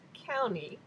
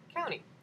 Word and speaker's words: Kauni: you the new color first so this is County and I was doing a little bit of